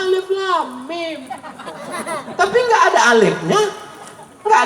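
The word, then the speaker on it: الم: Ini itu bukan alama. Alif lam mim. Oh, bacanya alif lam mim.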